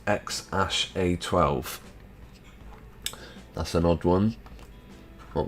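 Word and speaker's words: X Æ A-12: a and intended to call him which is pronounced X a12 that's an odd one what was it X a 12.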